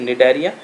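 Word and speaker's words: Cnidaria: निडेरिया यहाँ पर सी silent होता है, दिस इज निडेरिया।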